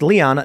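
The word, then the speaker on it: Lyon: segments from earlier the city of Leon is pronounced Leon not lion yes I learned that after I'm not I'm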